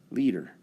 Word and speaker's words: liter: container we poured one liter looks like lighter but it's pronounced leader the abbreviation capital L